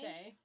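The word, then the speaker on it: Shea: Okay, so A Wilderness of Stars by How do you even pronounce that? Shay? Shay.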